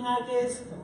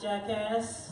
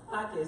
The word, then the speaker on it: Jaquez: Pronounce the J like an H. It's not jackass. Trust me, growing up was horrible. My teachers, is Jean Jackass here? It's horrible. So I had to make sure I tell you how to pronounce my last name. Jaquez, the J is like an H.